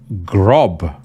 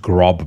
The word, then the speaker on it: Grab: Grob. I'm assuming it's pronounced Grob because you have the umlaut on the A. It's spelled Grab. But anyway, let's go with Grob.